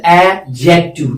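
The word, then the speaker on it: adjective: हमेशा याद रखना, डी इज ऑलवेज साइलेंट, इसलिए हम पढ़ते एडजेक्टिव, क्या पढ़ते हैं, एडजेक्टिव।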